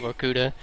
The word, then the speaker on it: Vorkuta: This is the second mission, because that's how you say it, Vorkuta.